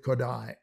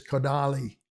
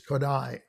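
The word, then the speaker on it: Kodály: and of sound uh people have a lot of trouble with kodai i don't know why well they often one version of it is kadali or kodai well even if you get the your part there is no e at the end uh it's kodai okay how about another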